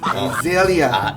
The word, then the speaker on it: Azalea: 그러면 오늘 이기 아젤레 어떻게 발음하세요? 이기 에이젤리아.